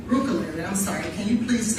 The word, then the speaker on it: Rebecca Bruccoleri: Bruccoleri, I'm sorry. Can you please state your name and spell it for the record? Sure, it's Dr. Rebecca Bruccoleri, REBECCA BRUCCOLERI.